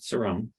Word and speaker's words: Cerrone: And it was very comforting that he pronounces it Cerrone, not like Siri or any other variation that we've probably heard our whole lives growing up.